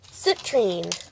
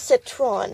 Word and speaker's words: citrine: Like, every once in a while there's like a dark red one, but citrine. Not citron, citrine.